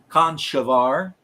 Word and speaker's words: Conchobar: wrong, and I know it's supposed to be pronounced Conchobar, but I didn't give a shit.